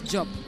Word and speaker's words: Diop: I hope you can pronounce that, Robbie. Diop? Yes, Diop. Right Diop.